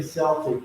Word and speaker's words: Celtic: I think Celtic is Celtic, which people say Celtic, but I think the proper pronunciation is actually Celtic.